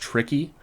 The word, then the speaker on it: Tri-Key: This one's called Tri-Key, or it's actually pronounced Tricky.